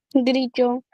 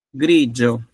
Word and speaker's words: grigio: Grillo. Grigio, eccellente, grigio, grigio. Così si scrive?